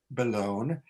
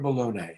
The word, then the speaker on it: Bellone: But I also want to direct everybody to his website, Bellone. Is it pronounced Bellone or Bellone? How do we pronounce it? Yeah, it's Bellone in Italian, but we say Bellone in English.